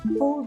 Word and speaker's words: pull: We cannot pronounce these words with the long oo sound, like moon and soon. We need a different sound. We need the short sound like good and book.